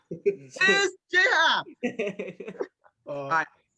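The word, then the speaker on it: J. A. Happ: J.A. Hap. It is J. Happ.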